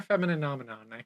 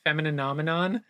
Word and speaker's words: Femininomenon: But no one could pronounce Femininomenon. Yeah, it's like the Muppets. Yeah, which is, phenomenon.